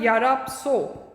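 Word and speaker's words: Yarab Tso: In which valley is a Yarapso? T silent होता है इसमें.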